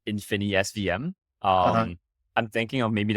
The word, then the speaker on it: InfiniSVM: And am I pronouncing that right? Infinite SVM? yeah, so it's like InfiniSVM.